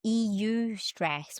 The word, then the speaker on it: eustress: It's written EU stress, but it's eustress, and that's the positive Brilliant.